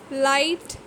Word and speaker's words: light: Silent GH. Night, light, fight. Same is the case here also. GH is not pronounced at all here.